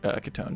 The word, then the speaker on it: Kitone: Her name's actually Kitone. Don't pronounce it Kit 1 unless you're memeing.